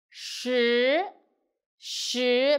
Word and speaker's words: 十: 十十 pay attention, roll tongue. 十横竖十 So you will find number 4, 四 and number 10, 十 The pronunciation is quite confused, so pay attention.